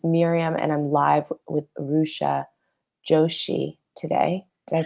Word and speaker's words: Rucha Joshi: My name's Miriam, and I'm live with Rucha Joshi today. Did I pronounce that correctly?